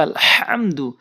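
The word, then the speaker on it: الحمد: অনেক দেখেছি আলহামদু পড়ে বলতে হবে আলহামদু আলহামদু তো এখানে বড় হা হলকের মাঝখান থেকে উচ্চারণ করতে হয় মাঝখান থেকে হা এরপরে হচ্ছে তা এরপরে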